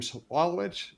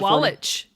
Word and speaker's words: Sawalich: so, our guest is going to be Soualiji. Um did I I mess that up? Did I? Soualiji. How do you pronounce it? Soualiji. That was good. You said it right the first time. Soualiji.